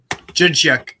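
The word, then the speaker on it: Dzsudzsák: It's like DZ. It's like, what? Jidchuk. Yep.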